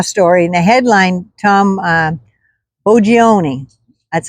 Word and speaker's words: Boggioni: uh in Raw Story in the headline Tom U ooni that's how I'm pronounced it b o gg i o n